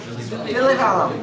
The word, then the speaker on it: Villivallam: It's Villivallam, right? Close. No. Is that wrong? No, you're pretty much right. What is My family disagrees about how to pronounce it. So. Villivallam. Villivallam.